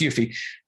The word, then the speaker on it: UEFI: of attackers hitting the BIOS okay so uh yuffie boot kits it's pronounced yuffie attackers love them for a lot of reasons